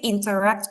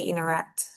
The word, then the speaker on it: interact: So inter, which is inter, But now in American English, the T is kind of absorbed. So you can say interact or interact, right?